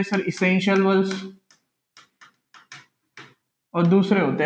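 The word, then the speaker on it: whorls: देखो, इसके प्रोनाउंसिएशन जो है ना वो अलग अलग है, पर मैं मतलब मेरे जो टीचर थे, है ना, मल्लिकार्जुन सर, वो इसको बोलते थे वर्ल्स। कुछ लोग इसको ओरल्स बोलते हैं, या फिर आई डोंट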